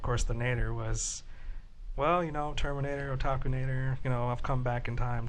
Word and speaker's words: Otakunater: Did I say it right? Yes, you did. Okay. Otakunater is how you say it.